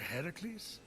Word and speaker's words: Heracles: thing with your voice a heracles yeah that that is how it's supposed to be pronounced seems like a lot